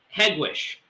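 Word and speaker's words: Hegewisch: how do you say the the neighborhood yeah headwish headquarters okay i didn't know that yeah head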